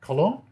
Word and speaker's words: Colón: So, ladies and gentlemen, I give you Colón, Sony artisan, and a professional wedding photographer and wedding fashion photographer.